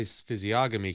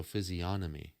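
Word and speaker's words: physiognomy: sounds gay yeah so we often say physiogamy because there's a G right in the middle of it but I think it's a silent G so physionomy which I think it I think it'd be making more sense that way so interestingly enough though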